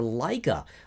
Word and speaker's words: Laika: And I'm also a beta tester for Laika, which is LAIKA.